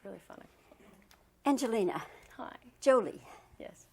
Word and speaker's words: Jolie: Jolie. Yes. The emphasis on the Joe.